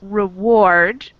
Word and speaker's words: reward: Mm-hmm, we have the emphasis on the second syllable in reward. We put more stress on ward, and in forward, we put more stress on for. So our emphasis is on the first syllable in forward, not reward.